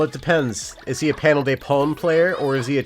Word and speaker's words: Panel de Pon: Do you know Japanese pronunciation well enough to know that this game is pronounced Panel de Pone, not Panel de Pon? Okay, that would be an A if you wrote it out in English. It's not Panel de Pon, it's Panel de Pone, okay?